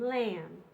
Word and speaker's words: lamb: thumb crumbs climbs Plumbing all of these mb's are just m the B doesn't make a sound at all just the m so MB says M and lamb then we have ooh